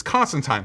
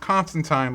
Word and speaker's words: Constantine: time where he says it's Constantine like fine because he's a British accent and that's how you pronounce it but the only other